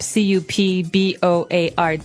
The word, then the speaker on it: cupboard: Okay, so you might want to say cupboard because it's cup, C-U-P-B-O-A-R-D. That's not right. The word is pronounced cupboard.